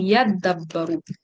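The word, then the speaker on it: يَدَّبَّرُوا: তো এই তা আর দালকে হচ্ছে তারা একসাথে যুক্ত করে বলবে হচ্ছে ইয়াদাব্বারু, এবং এটা কোরআনে আছে এই শব্দটা ইয়াদাব্বারু, ইয়াদাব্বারু।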